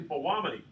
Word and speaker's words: Belluomini: kind of a tour they're actually like a w aren't they is that